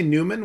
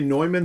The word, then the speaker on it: Neumann: the germany name because i pronounced it englishy i mean it's fine to say newman we we we just think of the british one yeah it's just it's better to say neumann to avoid confusion with now saint john